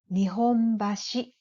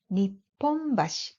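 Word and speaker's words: 日本橋: The one in Tokyo is pronounced Nihonbashi, but it is pronounced Nipponbashi in Osaka.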